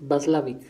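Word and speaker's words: Watzlawick: solo para precisar eh la pronunciación del del apellido del autor es vaslav es Paul basl es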